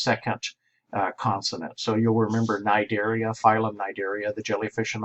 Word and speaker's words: Cnidaria: So you'll remember Cnidaria, phylum Cnidaria, the jellyfish and all of those guys. It is C-N, but we only pronounce the N.